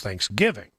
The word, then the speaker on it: Thanksgiving: To me, emphasis should be on thanks, but people they say the proper way to say it is Thanksgiving. The emphasis is on the giving.